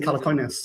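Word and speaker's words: Calacanis: So, first of all, if you want to explain, I don't know how to pronounce his name. Is it Jason Calakanis? Yeah, Jason Calakonis.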